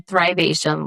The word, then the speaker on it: Thrivation: And you're saying Thrivation, like th H R I V E. Thrive.